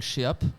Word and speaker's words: Sheap: Non, mais par exemple, un morceau qui s'appelle Sheap, c'est vraiment Sheap, parce que vraiment on savait pas comment appeler le morceau. Sheap, du coup les gens prononcent sheep comme un mouton. Non, c'est Sheap, vraiment.